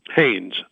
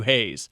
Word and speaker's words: Haynes: right off the bat because i've heard it's pronounced different ways is it hanes or hayes haynes haynes okay i've i was doing some research